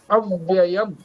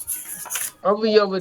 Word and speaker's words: अव्यय: निबध नंती निबध नंती और दूसरा देहि नम अव्यय देहि नम अव्यय अवयव नहीं है पाठ करेंगे अभी जी